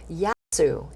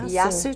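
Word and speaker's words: γεια σου: little greek everyone so in Greek it's kind of like Aloha yasu is hello and goodbye so yasu to you yes to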